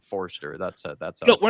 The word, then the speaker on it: Forster: saying a Forester. I'm saying Forster.